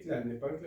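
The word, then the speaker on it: Tlalnepantla: de clal Ne pancla Okay clal Ne pancla hay mucha gente que lo pronuncia mal pero cl es la pronunciación correcta los hechos los cuales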